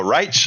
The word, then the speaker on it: Reich: His name is pronounced with a soft knot like the Third Reich. Oh, Reich?